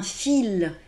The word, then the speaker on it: fil: Néanmoins, par exemple, lorsque l'on parle de coudre, vous savez, on utilise un fil. Alors là, il y a un L, et on entend le L.